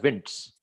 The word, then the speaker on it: Wnt: That is, it's WNT is actually we pronounce it as winds, wind signaling and notch signaling, and you'll see a lot of these.